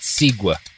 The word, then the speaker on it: segue: thank you so much that was an interesting segue I'll give you that pronounced sigua uh I'm